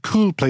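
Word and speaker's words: Kuul Play: Her business called Cool Play, that's spelled K-U-U-L, Play.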